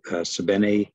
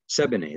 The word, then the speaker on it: Sebene: and it's by us sabine uh no i say her name sabine sebene that's it 7a selassie um and